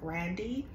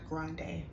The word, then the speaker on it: Grande: today um about Ariana Grandy um that is how you pronounce her name is grandy it's really not grande we just uh assume that it is um so um